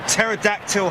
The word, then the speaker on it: pterodactyl: Tobago people ah I'll pterodactyl helicopters the P is silent thank you Michael kate